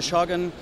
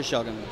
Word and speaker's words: Shogun: one is for the Shogun. Okay. And by the way, it's not pronounced Shogun. Shogun. Shogun is Shogun. A Japanese word, so okay. be respectful yes. And say it like it is. Okay?